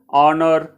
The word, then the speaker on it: honor: okay so it uh h is silent in those places so we have to